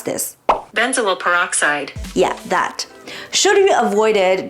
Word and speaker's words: benzoyl peroxide: How to pronounce this? Benzoyl peroxide.